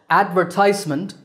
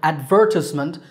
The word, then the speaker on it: advertisement: Or advertisement, stress on the third syllable, ties, and advertisement, stress on second syllable, ver.